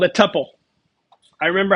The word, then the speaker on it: tuple: It's called a tuple.